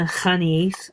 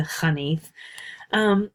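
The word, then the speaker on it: Xanith: So as you read the article about the Hanif, and that's it's an unfortunate transliteration with that X, but it's pronounced like a KH, the Hanif.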